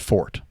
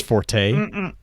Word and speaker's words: forte: like the word Forte technically you pronounce it for it it's not actually renounce Forte I've had so many